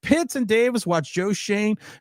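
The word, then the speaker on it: Schoen: The Shane family would be because I'm not calling him Shone. He should be shown because that's how you fucking spell it.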